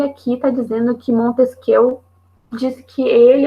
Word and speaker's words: Montesquieu: Mas por que o Montesquieu na verdade, ele é Montesquieu, tá? Se eu não me engano, a pronúncia certa seria essa.